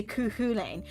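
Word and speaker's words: Cú Chulainn: so hard to pronounce i only recently learned how to say kuhulein and even then that's only in one of three gaelic dialects i didn't realize there were three ways to pronounce uh hulane but i see what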